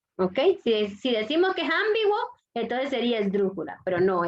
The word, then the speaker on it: ambiguo: ¿Dónde lleva la fuerza de voz? en B. B. Por lo tanto es grave o llana. Grave. Ambiguo. No es ambiguo, ¿ok? Si decimos que es ambiguo, entonces sería esdrújula, pero no es.